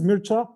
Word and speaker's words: Mircea: bit of introduction of myself my name is mircha uh this is quite hard to pronounce if you are not a romanian basically